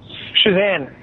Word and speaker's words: Shazan: is this Jen yeah is this shazan or how do you say your name shazan yeah so sorry to call